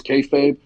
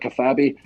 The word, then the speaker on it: kayfabe: So the term we use is kayfabe. It's kind of out there now. Everyone knows that's like keep the secrets of wrestling. I didn't know how to pronounce it. I used to call it kafabi.